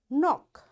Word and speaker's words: knock: It will be silent like in words no, knife, knock, knot, knit, knob, knee and knuckle and knowledge. You see in all these words because K is there and right after K there is N. That's why this K is silent.